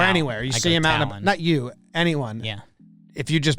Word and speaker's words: Taillon: If you meet him in spring training or anywhere, you see him out, Talon. anyone. Yeah. If you just pronounce his name correctly, it seems like he enjoys He likes Taillon.